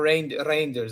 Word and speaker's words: Reinders: Reinders, or Reinders apparently is how you pronounce it, is long-term replacement for Gundo.